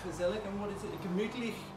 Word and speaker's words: gemütlich: Gemütlich. Gemütlich in German.